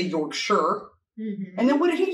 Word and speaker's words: Yorkshire: pronounced sheer not shire actually it's pronounced sure not sheer not sure york sure wait what was i